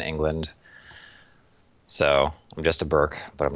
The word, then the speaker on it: Bourke: Jason Bork if I am NOT butchering the name hi